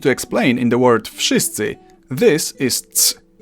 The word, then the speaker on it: wszyscy: Unlike in English, where letters have dreams and can be whatever the hell they want, in Polish you simply pronounce each sound one after another and you get the word.